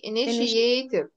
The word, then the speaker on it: initiative: التي اي هنا بتنطق شيء، التي اي بتنطق شيء، فايه initiative. يس، برافو عليك.